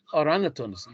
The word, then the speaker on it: orangutans: The number of orangutans. G silent. The G is silent.